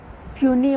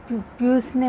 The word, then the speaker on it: Puisne: mortgage असेही म्हटलं जात काही जण याच प्रोनन्सिएशन पसने मर्गेज किंवा पुसने मर्गेज असे करतात पण पनी मॉर्गेज अस म्हटलं जातं तर आपण पनी मॉर्गेज